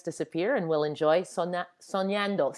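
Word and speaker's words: soñando: pronunciation of spanish but sonando you know what it's that's good i forgot to put the little uh curlicue on the end so it's soniando or dreaming oh yeah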